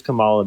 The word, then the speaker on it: Kamala: She tried to influence that bipartisan border bill, and then third of all, her name is pronounced Kamala.